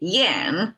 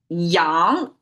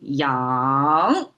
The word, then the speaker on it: 阳: Yen, okay, yang is how Chinese pronounce it and it's a rising tone. I have to say yang.